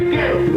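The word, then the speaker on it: Goettl: Gettle. It rhymes with kettle, except it starts with a G and it's spelled really weird. Gettle.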